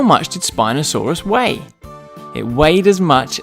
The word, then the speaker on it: Spinosaurus: let's learn all about Spinosaurus how do you say that again spy no saw Russ can you say it with me spy no saw Russ do you know how